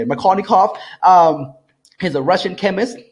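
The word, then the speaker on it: Markovnikov: Makarnikov, he's a Russian chemist, right?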